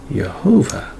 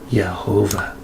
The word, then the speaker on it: Jehovah: is pronounced it's got the full vowel so pronunciation is right there it says jehovah all right and that's the proper name of